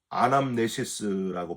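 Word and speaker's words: ἀνάμνησις: 이것을 행하여 나를 기념하라 하시고 25절에 포도주를 주시면서도 이것을 행하여 마실 때마다 나를 기념하라 하셨으니 여러분 이 기념이란 단어 아남네시스라고 발음하는데 이 말의 해석에서 카톨릭과 개신교가 크게 갈라집니다.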